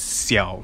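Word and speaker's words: 小: So if you see this Chinese word here, yeah, it says it pronounces as xiao, so basically it means small, so it will shrink smaller, so your accuracy will actually be affected.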